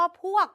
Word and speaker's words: พวก: แบบ นี้ ไม่ เอา ใน ภาษา ไทย สระ อัว เมื่อ มี ตัว สะกด เรา จะ ลด รูป ไม้ หัน อากาศ ที่ อยู่ ด้าน บน ทิ้ง แล้ว เหลือ แค่ ว แหวน ใน สระ อัว คำ นี้ จึง อ่าน ว่า พวก ลอง ดู อีก สัก